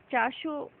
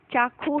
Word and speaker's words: चाखो: यहाँ जो आप देखेंगे कि ये जो चाशो लिखा हुआ है, ये वास्तव में चाशो नहीं है, ये चाखो है। इसका उच्चारण श न होकर ख होगा। ठीक है।